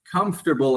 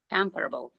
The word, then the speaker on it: comfortable: try this, anyone who's comfortable enough with this. What do you got with that one? Comfortable. Yes, I like it. Just more power in the beginning there.